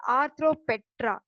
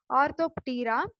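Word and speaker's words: Orthoptera: And comes to the order, it comes under ஆர்த்ரோபெட்ரா, ஆர்த்தோப்டீரா ஆர் ஆர்த்ரோபெட்ரான்னு சொல்லி நிறைய பேர் ப்ரொனவுன்ஸ் பண்ணுவாங்க. ஸோ it should be pronounce as ஆர்த்தோப்டீரா. Tira means P silent actually, so Tira means wings.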